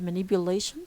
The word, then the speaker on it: manipulation: Here, if you look at the word manipulation, lay is the stress syllable, and it carries the strongest stress, the primary stress.